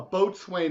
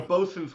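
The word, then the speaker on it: boatswain: boat it's a Well a boat Swain is a BOS but a bosen's whistle yeah right yeah that's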